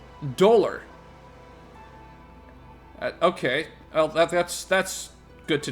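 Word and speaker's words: Dolhr: So it's pronounced Dolar. Dolar.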